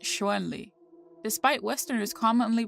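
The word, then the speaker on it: Chun-Li: properly romanized as Shan Le in pinin and pronounced Shen Le despite Western is commonly pronouncing it as shunli the Japanese rendering of the name is shundre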